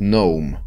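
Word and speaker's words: gnome: Я раньше все время думал, что ном называется только потому, что если читать слово гном по-английски, то будет ноум. То есть Г не читается, не звучит.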